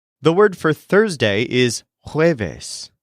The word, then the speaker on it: jueves: The word for Thursday is jueves, spelled J-U-E-V-E-S. Jueves. For example, Thursday is my longest day. El jueves es mi día más largo.